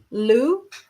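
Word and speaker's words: Lugh: a little bit because it's so hard to pronounce. So I know um to call it Luna. Lou is uh the god of many skills.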